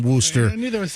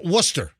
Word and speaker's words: Worcester: uh the Polar Seltzer Factory is located in Worcester yeah actually Worcester Worcester no no no it's Worcester and they